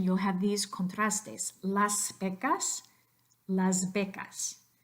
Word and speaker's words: Las Vegas: Las Vegas Las Vegas but don't turn the last s of Beck us into anything other than s because you'll remember that in any dialect of Spanish even Castellanos the letter s here would not become voiced because it doesn't come before anything so it definitely doesn't come before a voiced consonant so one more time